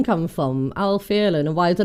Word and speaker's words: Æl Fierlen: Now, not where I'm from, obviously, but the ash letter is meant to make that noise, so Æl Fierlen, and so that's why it's pronounced that way. Everyone confuses it with Latin, where the ash makes the A sound. Just because Æl Fierlen is Old English, not Latin.